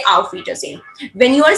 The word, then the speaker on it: auf Wiedersehen: mostly 90% of cases, whenever you get a letter S, you're always going to pronounce as Z, not so. So that's why I have pronounced this word as a auf Wiedersehen.